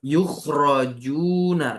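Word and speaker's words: يُخْرَجُونَ: Nah, ya, yukhrajuna, kita bacanya ro-nya di fathah, ya, majhul.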